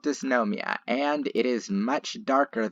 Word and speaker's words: Dysnomia: who played xena however mike brown actually he pronounces the name disnomia after his wife diane it has a diameter